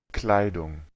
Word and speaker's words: Kleidung: Kleidung, Kleidung, Está claro el sonido de la AI y de esa U corta. Kleidung, Y al final, una NG. No es como una N, es una NG. Eso se parece mucho al inglés, ¿verdad? Es bastante parecido al inglés, en donde obtenemos ese sonido de de NG.